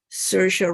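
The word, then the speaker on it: Saoirse: trying to pronounce it because she's irish and you should pronounce it differently as if it because it's not english and you would call her sercia ronan and if i tell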